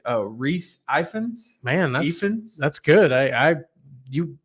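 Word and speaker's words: Rhys Ifans: Oh, Reese Ifans.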